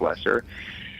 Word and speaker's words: Lesser: do you say Frank loser how do you say that name Frank lesser lesser like like greater and lesser so you know there's